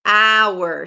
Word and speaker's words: hour: However, in the word hour, I don't have, even though the graphically the word starts with a consonant, phonetically it starts with a vowel, hour. So that's why we say an hour.